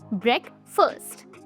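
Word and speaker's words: breakfast: दोस्तों, पहली चीज इसका प्रोनाउंसिएशन ब्रेकफास्ट नहीं ब्रेकफास्ट होता है। ब्रेक फर्स्ट।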